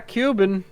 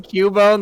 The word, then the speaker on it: Cubone: just i was pronouncing cubone the same way i was pronouncing zubat like zubit so it came out cuban oh no a cuban